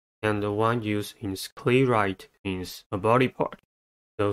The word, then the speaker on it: sclerite: The next word is sclerite. Sclerite has two syllables and the stress is at the first one.